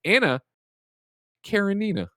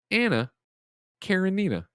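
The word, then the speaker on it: Anna Karenina: up nanobiologist writes into correct my terrible pronunciation it the tolstoy novel i was talking about it is anna karanina anna karen nina um this is just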